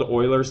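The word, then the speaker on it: Euler: in the same straight line and that's called Oilers line it's spelled like ERS you'll see it on the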